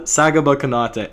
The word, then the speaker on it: Sagaba Konate: That is Sagaba Konate.